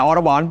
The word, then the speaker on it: Autobahn: Yeah, Autobahn.